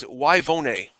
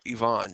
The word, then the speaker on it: Yvonne: in context it says why vone or Yvonne if you're pronouncing it correctly is planting trees as